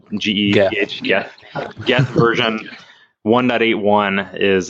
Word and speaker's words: Geth: Geth, G-E-T-H, Geth.